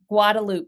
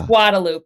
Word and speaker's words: Guadalupe: In the same way that Texans call uh Gu Guadaloop Street, which would be Guadalupe, but in Austin it's Guadaloop, you know.